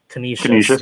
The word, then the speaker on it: Canisius: Prep at McDowell, and Erie at can you pronounce that for me? Canisius.